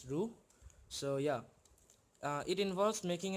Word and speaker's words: Roux: Its spelling is something like ROUX, but it's pronounced as ROUX.